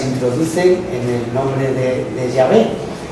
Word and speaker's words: Yahvé: ¿Cómo pronunciaban esto los judíos? Pues Yahvé.